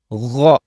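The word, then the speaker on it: غ: comes from the same articulation point is the gha, like ghayri, ghayri, not gayri, gha, right? When you see the letter ghain, gha, gha, gha, gha, gha. You see, this is how it's pronounced, not ga, gha, gha, gha.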